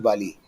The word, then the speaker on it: Bali: actually fights directly with Bali and okay Bali or valali whichever way you call it two ways pronounce it V or Bali uh sugriva's elder brother